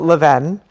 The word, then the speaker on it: Levain: Yeah, we call it Leven.